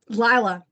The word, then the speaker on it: Lila: So the other main, so Caroline's one main character, Lila, Lila. the proper pronunciation, is our other main character, and she has a horrible friend.